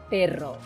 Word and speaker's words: perro: dog and in Spanish remember to roll your r's can you say it with me perro oh that's very good